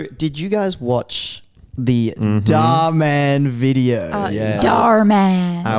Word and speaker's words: Dhar Mann: Say it right. How do you say it? Dhar Mann. All right, there you go, guys. That's how you say it.